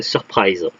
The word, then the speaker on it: Surprise: espoir de la galaxie si on prononce en anglais ça ferait surprise ça rime un peu avec Enterprise le capitaine Kork le